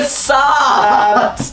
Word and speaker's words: facade: It's facade! I think you'll find it's a C, not an S. Sweet boy. It's a soft C.